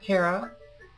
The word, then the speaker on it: Kara: This is Kara, also known as, and yes, that is how you say both my real name and my internet name.